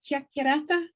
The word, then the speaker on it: chiacchierata: Chiacchierata?